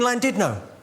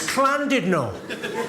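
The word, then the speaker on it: Llandudno: Went, it's not clandido, you bloody fool. It's clandidno. In Wales the double L is pronounced with a C.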